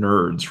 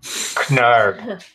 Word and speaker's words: Knerd: So that would be now Talon and Nerd's relationship. Knerd. Sorry. Knerd. It's pronounced nerd.